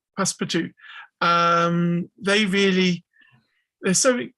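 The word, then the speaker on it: Passepartout: thinking of passport um it's spelt like pass support but it it is passparty pass for two um they really they're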